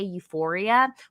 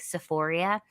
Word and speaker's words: Euphoria: or the funny thing is that they can't even pronounce it right. They meant to say Euphoria, which they Oh, definitely should she's not be watching.